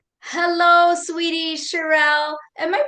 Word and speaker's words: Cherelle: Hello sweetie Charerelle. Am I pronouncing your name correct?